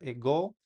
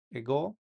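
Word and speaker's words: ἐγώ: La epsilon se pronuncia como una E en español, como en la palabra ego, ego, ¿verdad?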